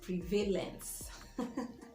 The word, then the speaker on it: prevalence: prevalence prevalence and not prevalence notice that the stress is on the first syllable prevalence there has been